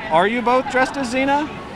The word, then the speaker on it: Xena: both dressed as xena i'm just a zina with a z with an x i is it who decided that an x can be and a z i didn't so xena it's spelled like xanax with an a you know what i